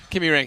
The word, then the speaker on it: Kymiring: Kimmy Ring. Kimmy Ring. Yes. This is what Hal keeps reinforcing.